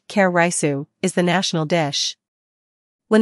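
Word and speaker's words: カレーライス: exaggerate when we say that Japanese curry rice pronounced karisu is the national dish when the Japanese say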